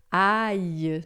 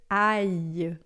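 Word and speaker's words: ail: Ai, né? Alho em francês. Ai, tá? Quando tem o L, o I se separa do A e pronuncia junto com o L, um I prolongado.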